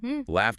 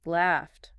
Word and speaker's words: laughed: Laughed ends quick. No buzz. T. Then loved keeps buzzing, ends D. Laughed.